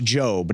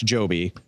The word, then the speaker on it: Jobe: with me here okay it's Josh Jobe not Josh Joby my apologies Josh Josh